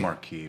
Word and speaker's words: Housemarque: It's Marquee because it's Marquee. I wasn't sure if that was just like I've Mario. only ever heard Mark, so I didn't check the pronunciation. Okay, Housemarque, Finnish game studio. Jamie is Canadian. I defer to him. You read my mind, Tom. It sounds very French, and it'd be Marquee.